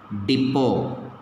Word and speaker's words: depot: Depot. T is silent.